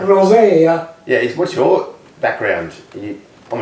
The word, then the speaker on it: Rozaia: Rozaia, but that's pretty anglicised now. Rozaia.